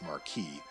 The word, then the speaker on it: marquis: so here's another thing it says the form m-a-r-q-u-i-s is french in origin so it's marquee the english form is m-a-r-q-u-e-s-s and that's what you pronounce marquis so okay so